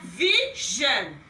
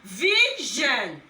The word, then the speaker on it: vision: Here you pronounce vision. You will discover that these two words sound alike, but we have different consonant sounds there.